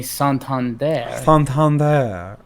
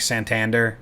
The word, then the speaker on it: Santander: It's like, actually, it's really a feminine sounding version. So just be dainty with it. Don't say my name with any hard punctuation. Just as dainty as you can possibly say my name. That's how you say it.